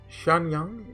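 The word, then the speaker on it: Xianyang: prefecture so i believe x is pronounced sha like sh shanyang isn't that indeed respect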